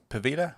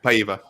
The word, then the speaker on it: Paiva: Pavita? How do you say his name? Paiva.